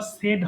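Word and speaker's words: said: সেই বলা, কিন্তু পরেরটা আবার সেড হবে।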